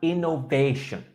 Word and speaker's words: innovation: And innovation. Innovation. Innovation, long A, Innovation. perfect. The third syllable is that long A sound.